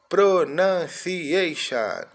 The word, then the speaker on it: pronunciation: C, I de I, o A com som de Ei, o T o N com son de Shan. Pronunciation do.